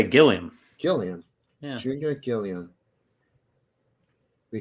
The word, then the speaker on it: Gilliam: Is it Gilliam or Gilliam? I would say Gilliam.